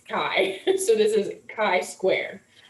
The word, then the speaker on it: chi: pronounce this this is called a chi square test not a chai not a chi it's kai so this is chi